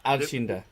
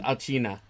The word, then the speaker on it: Alcina: Alcinda. Arcina. Alcina.